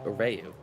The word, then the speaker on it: Reu: I pronounce it like Rayu because that's what Dude told me it was how it was pronounced. It's the first 3 letters of the Pokemon Reuniclus, I believe.